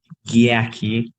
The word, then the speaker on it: Giaki: we you know me if you can also pronounce my name yaki as crew Tosi says